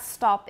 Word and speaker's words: stop: it's of of and the word stop an american and my dialect does not stop it's stop ah it's an ah sound everybody stop all right